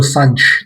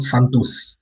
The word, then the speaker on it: Santos: So let me take this opportunity to welcome our new signings in Nuno Sanch, not Santos. He said in the video that he was announcing that that's how you pronounce his surname.